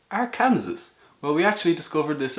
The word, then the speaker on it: Arkansas: That says Arkansas. Well, we actually discovered this ourselves. The Arkansas is a French colony or something like that. So the S at the end is silent or pronounced like a as the French do.